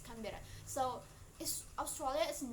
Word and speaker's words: Canberra: Oh, you can say if I pronounce it wrong, but yeah, it's Canberra.